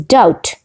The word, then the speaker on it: doubt: word is doubt doubt in the word doubt be is not pronounced we don't say da but okay it is doubt number five anchor in